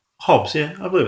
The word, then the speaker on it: Hobbes: going to be talking about social dynamics Thomas Hobs with social Contracting and Insanity yeah always a